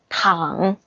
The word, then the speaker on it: 躺: So this situation, we say 他躺着 So 躺 like this. 躺 Don't pronounce like a second tone. It's 糖 That's candy. 糖 The third tone.